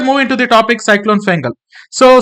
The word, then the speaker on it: Fengal: into the topic Cyclone fangle so Cyclone fangle otherwise it is usually pronounced as a cyclone Fel so Cyclone Fel was